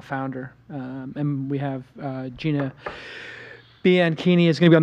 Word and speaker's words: Bianchini: It's Bianchini, which is like zucchini.